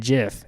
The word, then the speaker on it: GIF: oh yeah the group grammatically it's pronounced Jeff is what I put so here is the G coming after a vowel rule the hard G pronunciation of the letter G comes when a o or you follows it examples gasp good or guy we pronounced G's as a soft G when I II or Y follow it giraffe German